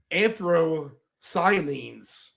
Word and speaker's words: anthocyanins: You can't pronounce this stuff. There's queer sits in QUERCTIN and anthocyanins.